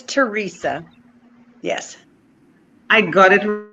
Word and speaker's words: Teresa: How do you pronounce it? It's Teresa.